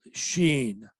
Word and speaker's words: Shein: online brand only called Sheen spelled s-h-e-i-n and supposed to be pronounced as she in anyway it's a China